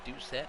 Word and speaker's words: Doucette: I can actually pronounce his name, like you said, it is Doucette.